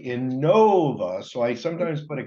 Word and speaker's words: Inova: just kidding um so in Nova and I people always ask how do you say that is it Innova is it Inova well it's actually Inova so I sometimes put